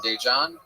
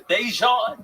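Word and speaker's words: Daegen: His name is spelled D-A-E, which is day. And then it's G-E-N. I know it spells confusing.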